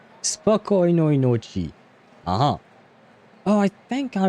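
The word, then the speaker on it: Спокойной ночи: And wait, how do you pronounce that, though? Spokojnoj noci. Spokojnoj noci.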